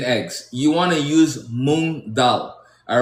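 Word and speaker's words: moong dal: To make your vegan eggs, you want to use moon dal. All right? It's spelled m o n g and then d a l.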